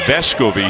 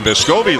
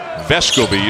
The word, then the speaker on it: Vescovi: for the first time this year it is vesco v he was kind of allowing people to pronounce his name vescovi last year but evidently spoke up about it a little bit this year and vesco bee is the correct pronunciation of the young man's